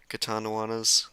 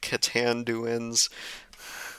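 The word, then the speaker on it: Catanduanes: Katanawanas. Yep. One of my friends told me how to pronounce that. I would be saying it Katanduans, like Katanawanas. Samar instead of Samar.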